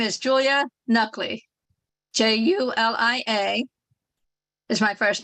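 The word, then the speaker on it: Nakhleh: comments thank you our next speaker is Julia nakla hello thank you for letting me speak today my name is Julia nuckley j-u-l-i-a is my first name my last name is spelled n-a-k-h l-e-h I am from Collegeville Pennsylvania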